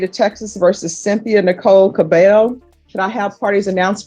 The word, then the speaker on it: Cabello: And are you Miss Cabel? Yes. Am I pronouncing your last name right? Yes. Thank you. I'm always the double L's always throw me off.